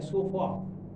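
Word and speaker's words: so far: ऐसा बोला जाता है, इसका प्रोनाउंसिएशन है सोफा। आर को प्रोनाउंस नहीं करती ब्रिटिश इंग्लिश, इंडियन इंग्लिश भी कम ही करती है, क्योंकि हम लोग ब्रिटिश इंग्लिश पर ही चलते हैं।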